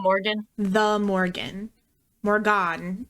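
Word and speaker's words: Morrígan: not Morgan the Morgan morgon is actually how you say it the morgon and she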